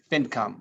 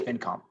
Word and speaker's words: FinCom: I say FinCom. My IP lawyer likes saying FinCom, like income. So yeah, I don't know. It's a couple different ways. I say FinCom.